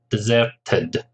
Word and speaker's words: deserted: t is silent bustling deserted remember the Ed ending of adjectives and verbs is pronounced as an extra syllable only after t or d in this case after T is that deserted the next syllable picturesque